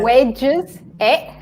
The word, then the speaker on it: wedges: Wedges, and wages long.